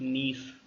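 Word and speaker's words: gneiss: तो ये leads to formation of नीस, ji silent है।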